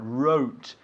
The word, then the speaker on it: wrote: I wrote wrote wrote not R but wrote The W of course is silent yeah write wrote so